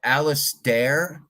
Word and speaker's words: Alistair: Is it Alistair? Yes, Alistair. Like Fred Astaire.